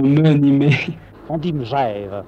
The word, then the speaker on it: Megève: ni mais on dit meève on ne dit pas mais ni me on dit meève simplement il faut prononcer meève puisquon dit pas Gève on dit Genève et on ditve moi